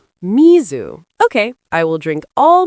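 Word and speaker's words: みず: Would you like some cold misu? Misu. Mizu.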